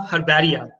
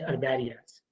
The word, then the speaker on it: herbaria: So whenever you are pronouncing the herbaria, no, you should call it as a herbaria instead of herbaria. So H should be the silent.